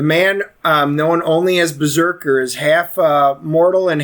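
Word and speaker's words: BRZRKR: there's a kickstarter that's out there and it's berserker it's a it's a new comic it's spelled uh brz rkr it's the first comic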